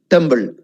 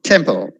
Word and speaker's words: temple: no college next temple did i say tumble how do most of you say tumble i mean that's not you most of my students in my college say stumbled that tumble temple you're making two mistakes there one your tongue is going inside for temple and for pull again your tongue went inside i said never go to the middle never all is there on the edge just above the teeth so temple please don't feel shy if